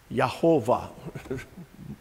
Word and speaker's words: Jehovah: Jehovah is kind of outdated. That came from combining the word for God, Elohim, with the word for God's name, and it came up to be Yehovah, roughly Yehovah.